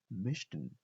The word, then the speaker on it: möchten: Möchten. Pronounce with me. Möchten. Möchten. Mishten. बिल्कुल. CH को spricht man CH mit Shin aus. CH को Shin से pronounce किया जाएगा.